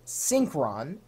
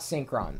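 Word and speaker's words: Synkron: day, a file, a program, a utility called Synchron, and you spell that S-Y-N-K-R-O-N.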